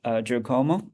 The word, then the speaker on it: Giacomo: today we're very happy to have Giacomo. Is that the right pronunciation of your name? Uh, That's right. Giacomo.